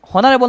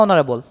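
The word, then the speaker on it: honorable: এখন দেখো তো অনারেবল, এই যে অনারেবল, হনারেবল না অনারেবল, অনারেবল, তার মানে ও উচ্চারণ হইতেছে, ও কী ধরনের প্রোনাউন্সিয়েশন,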